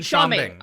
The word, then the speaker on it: Schombing: Jason Schombing. Okay, I didn't know I wasn't quite sure how to pronounce it.